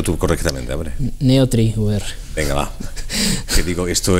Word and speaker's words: Neotrie VR: Este software, pronúncialo tú correctamente, hombre. NeoTriWare.